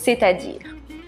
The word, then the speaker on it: c'est-à-dire: messages à voix haute on ne prononce pas c'estàd on dit c'est-à-dire on n'oublie pas l'accent sur le a c'est-àdire c'est à dire